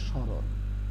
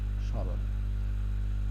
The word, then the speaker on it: স্মরণ: স্রণ। স্রণ।